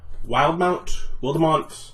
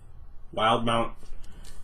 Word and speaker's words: Wildemount: the Explorer's Guide to Wildemount. I think it's supposed to be Wildemount, but with that E in there, I want to pronounce it Wildemount.